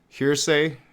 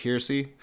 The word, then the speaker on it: heresy: I call it hearsay, and I know it's not. It's like heresy, heresy.